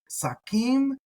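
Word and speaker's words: שַׂקִּים: and the sheen, but here you'll notice that we do have the sin, and people will tend to pronounce that the same way as they do a samek. So Sakim, there's a lot of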